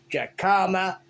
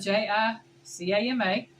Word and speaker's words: jicama: a reason for that the way it's spelled you could say jacama jakama it is spelled j-i-c-a-m-a so why would the J be silent when you say look at my as it comes from south of the board oh God but uh